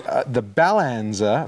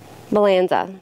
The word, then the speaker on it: Balanzza: So, getting back to the product 2 minutes into the show, this is called the Balanzza. Balanzza? How do you pronounce that? Balanzza.